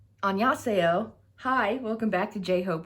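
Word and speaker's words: 안녕하세요: taking his lead and using the way he pronounces hello, which is annyeonghaseyo.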